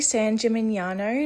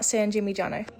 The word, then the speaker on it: San Gimignano: You guys, I just realized I was pronouncing it wrong this whole time. It's actually San Jimnyano, not Sanjim Jano.